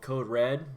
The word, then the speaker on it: CODE: REaD: basically a code write code reader it's called Code Red but it's a code read re ad but pronounced Code Red and the fuel pack fb3